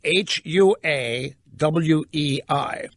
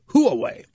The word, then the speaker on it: Huawei: now that is felled hua w/e I for those of real real lyndah may be easier to think of it as who away but the correct pronunciation is Huawei and they do make